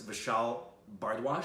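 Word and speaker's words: Vishal Bhardwaj: me about the director, which I hope I pronounce his name right. It's Vishal Bardwaj.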